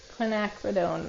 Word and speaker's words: quinacridone: oh my God I'm thirsty okay quinone magenta quinacridone Violet can you spell the first part quinacridone